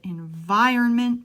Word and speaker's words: environment: normally, helps protect the environment too. Now, environment is a long word. Environment. I'll stress vir.